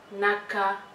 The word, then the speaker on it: naka: Naka be chek bi. Naka, naka, and it is spelled as N-A-K-A.